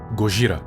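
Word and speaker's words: ゴジラ: Black M porque é o nome do químico do Cisaua e Godzilla porque é a pronúncia em japonês de Godzilla. Gogra.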